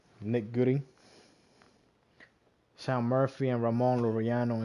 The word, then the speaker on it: Goody: That's how you say his name, Nick Goody.